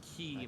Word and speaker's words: quay: Well, it's like how Q-U-A-Y is pronounced key, not believe we quay.